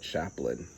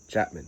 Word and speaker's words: Chapman: Clay Mloud Chaplain. Chapman. I always get his name wrong.